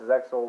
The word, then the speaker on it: XYZ: Summon, or XYZ Summon, however you pronounce it. I know it's Zexo, but I jokingly call it XYZ Summon, Pendulum Summon, and of course, Link Summon.